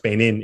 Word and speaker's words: Beynon: Again, follow him on Twitter at Beynon, Beynon, N-O-N, even though it's pronounced Beynon, it's N-O-N.